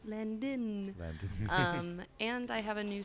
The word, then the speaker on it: Landin: It's just my name, Landon, and it's like Landon spelled like a plane landing. L-A-N-D-I-N. Yeah, without a G. people are always like, Landon. And I'm like, nope, Landon.